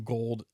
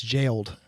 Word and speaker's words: Gaoled: It says, yeah, I always call them gold. I didn't know how to say it, and then I had to look up the pronunciation, and it's Jailed.